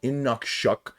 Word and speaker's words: Inukshuk: If you accumulate more than 5, you get a special Inukshuk, I'm pronouncing that correctly because it has the pronunciation